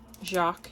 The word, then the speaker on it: Jacques: Like I said before, I have two dogs, Jacques and Blue. And Blue is spelled like the French blue.